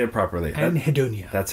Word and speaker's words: Anhedonia: Anhedonia. That's how you say it. I'm probably mispronouncing it.